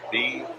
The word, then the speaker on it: Bujan: Last name is Bujan, Bujan, and it's pronounced Booyan.